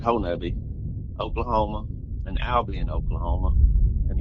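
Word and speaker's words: Honobia: Well, my dad lived in a place, called, in between Honubby, or some people pronounce it Honubia, but it's up here we pronounce it Honubby, Oklahoma, and Albion, Oklahoma.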